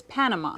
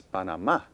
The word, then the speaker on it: Panamá: English, how do we pronounce this word? In English, the country is Panama.